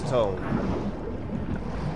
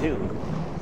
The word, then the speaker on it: tomb: That's how I get to this tome. Ah, shoot. First of all, that's not how you say it. It's a tomb.